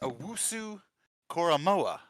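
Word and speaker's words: Owusu-Koramoah: I think it's pronounced Owusu Koromora. That's right. Okay. Owusu Koromora.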